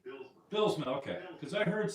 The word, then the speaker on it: Bylsma: You can say Bylsma, and as long as you keep the S and not a Z, like if we're going to be nitpicky, that's how they say it in the old country.